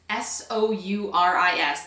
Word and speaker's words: Souris: This is in the color Souris, S-O-U-R-I-S. That's how you pronounce it, I guess, Souris.